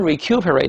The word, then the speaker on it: recuperate: 这个为什么读成 recuperate 呢？